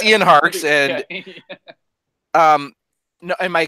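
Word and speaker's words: Ian Harkes: name we just keep talking around no it's Ian harks and um no and my question is because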